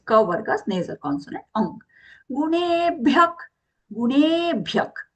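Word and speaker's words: गुणेभ्यः: Gunebhyak, gunebhyak. Here the visarga is being pronounced as kha sound. Kha, just as though you're correcting your throat.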